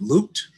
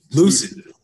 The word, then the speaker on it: Lucid: of AI development at, is it Looped? Looped? what'd you say? Lucid. Yes. I apologize for the mispronunciation.